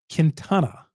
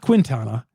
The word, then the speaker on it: Quintana: the Jose k move kintana not Quintana kintana some of you all corrected me on that I appreciate that you